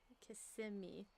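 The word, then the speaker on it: Kissimmee: Kissing me.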